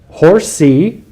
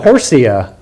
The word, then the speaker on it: Horsea: b excuse me aquinas b horsey uh let's pronounce that horsea horsea okay b marsten